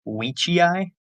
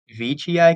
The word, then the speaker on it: veitchii: not German man, actually, was pronounced Weechii because that's how it is in Latin, but it's Veitchii because it's his name, and his name is pronounced that way, so it's kind of a running joke.